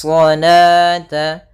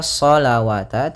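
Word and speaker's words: صلاة: Kemudian di sini bukan dibaca salawata, tidak boleh dibaca salawata, karena di sini ini penulisan rasamnya. Ketika penulisan rasam shalah itu seperti ini. Nah, waw di sini dianggap tidak ada, waw tidak ada, dan alifnya yang saya dianggap yaitu salata.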